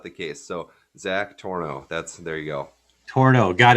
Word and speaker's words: Tornow: Tornow is the way of saying it.